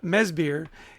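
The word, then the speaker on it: Madsbjerg: name uh he's he's he's Danish and so even though it's uh mesir it's spelled m a d s b j e r g so don't try to sound it out that won't help you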